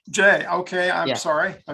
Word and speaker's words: Jai: And the first we're going to be talking to is Jai. Jai, are you here? Yeah, and I usually pronounce it J. Jay, okay, I'm Yeah.